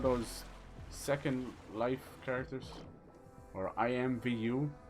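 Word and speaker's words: IMVU: Second Life characters or I IM Vu it's spelled like the letters i IM Vu I it was like I IM Vu it's another one of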